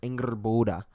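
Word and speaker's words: Angrboda: revealed is one of the last giants that's ingerborda is her name um on top of all that's how you pronounce it on top of all that there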